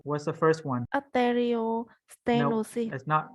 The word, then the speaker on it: stenosis: Like, and then right in the it's You see the EH is okay, stenosis, not stare. There's no stare. Air is Vietnamese. There's no air in English. Okay, it doesn't pronounce air. Stenosis, not stenosis.